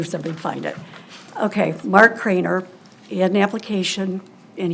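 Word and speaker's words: Kraner: no, it's not Kramer, it's Craner. K-R-A-N-E-R.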